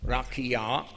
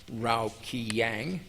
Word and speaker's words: Rakia: The explanation of facsimile 2, figure 12 reads, and I'm going to pronounce this correctly, Rakia, not Raukiyang.